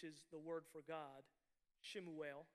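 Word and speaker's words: שְׁמוּאֵל: Shemuel is how it's pronounced.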